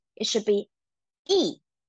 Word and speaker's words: 一: But in this case, we have to pronounce it as the fourth tone. It should be E. E.